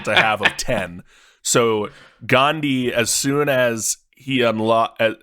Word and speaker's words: Gandhi: rest of the world Gandhi not Gandhi Kyle Gandhi spelled like candy but with a G almost couldn't finish that